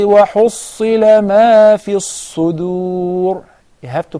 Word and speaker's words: الصُّدُورِ: But when you say وَحُصِّلَ مَا فِي الصُّدُورِ, right away say he did not study the صفات, the characteristics, because it's not a dad, it's a dal. So we say وَحُصِّلَ مَا فِي الصُّدُورِ.